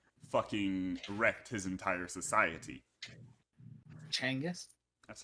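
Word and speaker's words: Genghis Khan: Changis, that's how they say his name. Changis.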